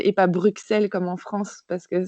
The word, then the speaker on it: Bruxelles: euh d'ailleurs je dis Bruxelles et pas Bruxelles comme en France parce que c'est en Belgique on dit Bruxelles ça se prononce avec deux S et on prononce pas le X euh et donc euh